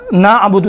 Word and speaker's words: نعبد: جاتا ہے۔ لہذا ان چیزوں میں الحم ایاک نعبد و ایاک نعبد، دیکھیں نعبد، کیا پڑھتے ہیں؟ نعبد ایاک نعبد و ایاک نستعین، نستعین یہ تلفظ کرتے ہیں، نعبدو نہیں ہے، اعبدو نعبدو